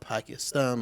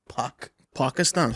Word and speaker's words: Pakistan: It's not Pakistan. It's Pakistan. Pakistan.